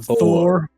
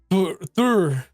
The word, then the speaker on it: Thor: No, Thor. Thor. There's no U. There's no U sound.